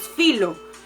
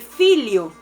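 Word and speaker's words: filho: si nosotros lo leemos acostumbrados a que la h es muda y no se pronuncia lo le daríamos filo pero se pronuncia realmente filio esto también aplica para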